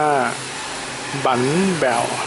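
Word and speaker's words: bánh bèo: แบว นะ ฮะ เนี่ย ครับ เี่ อ่าน ว่า บั แบว นะ ฮะ คำ ว่า บั เนี่ย ภาษา เวียดนาม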